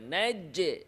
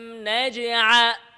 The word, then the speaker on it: نجعل: ألم نجع ألم نجع অনেকেই আছে কলকলাতে তাসদীদের মতো উচ্চারণ করে নাজ্জে নাজ্জা নাজ্জা আলাম নাজআ ইজি করে বলতে হবে নাজআ নাজআ আলাম নাজআলিল আরদ